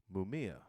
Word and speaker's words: Mumia: It says free Mumia.